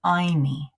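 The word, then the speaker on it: ayni: us and it's this term called iy isn't and we all giggled like 12-year-olds because we're like it sounds like Hy but it it's a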